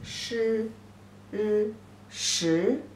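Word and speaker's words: 十: Pronunciation is sh, u, sh, the second tone.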